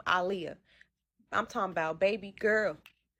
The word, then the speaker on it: Aaliyah: So, first and foremost before I get started, I am was and still am a big Aliyah fan cuz that's how she pronounced her name. Aliyah, I'm talking about baby girl, better known as Aaliyah.